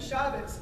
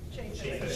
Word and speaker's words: Chaffetz: The narrative will come out that Chavez, am I saying his name right? Chaffetz. Chaffetz. I've been saying it wrong for like years.